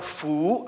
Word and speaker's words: 福: Bacanya fu, ayo apa? Fu.